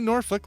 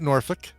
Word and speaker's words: Norfolk: Well, see, Norfolk. We pronounce it Norfolk.